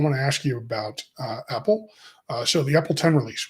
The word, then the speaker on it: EPEL: Some people think I'm saying Apple whenever I say it, but no, it's EPEL.